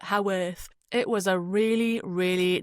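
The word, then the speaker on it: Haworth: I think that's how you pronounce it. I thought it was Hworth. You you spell it H A W O R T H. So I guess up north they call it how earth.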